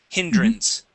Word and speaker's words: hindrance: let's go to hindrance so we're going to use a short I sound here instead of hindrance hindrance try that hindrance good good good